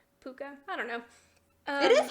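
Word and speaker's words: Puca: And one of them, I read it as Puka, P-U-C-A. I don't know if that's how it's pronounced. In my head, I pronounced it like the dog from Anastasia. Puka?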